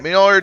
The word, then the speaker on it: Mjolnir: I'm gonna have a hard time pronouncing that. I'm gonna be honest with you. Mjolnir. All right, Mjolnir Twitch.